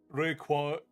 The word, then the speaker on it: Rayquaza: Requaza is the proper pronunciation. I refuse to believe that. I refuse. Rayquaza Rayqua I've always I've always said Rayquaza Rayquaza. No refuse. It comes from quasor.